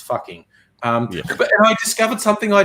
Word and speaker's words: Fugging: The official name changed to Fugging, Fugging, but in their local dialect, that's still pronounced fucking.